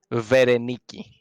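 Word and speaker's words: Βερενίκη: Vereniki. Say it again, Aris. I want to hear it again. Vereniki or Vereniki, as it was the ancient pronunciation, which means the bearer of victory.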